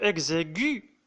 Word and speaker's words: exigu: L'adjectif exigu, il se termine déjà avec U, qui se prononce.